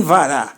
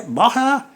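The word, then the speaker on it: בָּרָא: Não pode ser vereshit e nem vará. Aqui é boreshit e é bará. Essa é a pronúncia.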